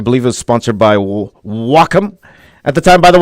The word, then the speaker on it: Wacom: By the way, that's how you pronounce it, guys. It's not Wacom, it's Wacom. When I was sponsored by them, that's how they said it. It's like Sock'em.